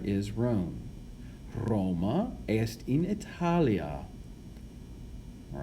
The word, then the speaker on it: Italia: Hopefully you can remember what we said earlier about in the prepositional phrase in Italia, Italia with a long A it's the object of the preposition, so it has what we call an ablative case ending.